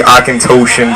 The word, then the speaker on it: Auchentoshan: about I represent the akant toan brand I know I've had people ask me how to pronounce it this evening it's actually Aken toan single Mall Scotch it's